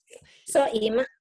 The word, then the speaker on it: Soimah: jangan Soima, Soimah. Soima, Soimah. Soima, oh Soimah. Soima, Soima, Soima, Ibu mah. Soima, Soimah.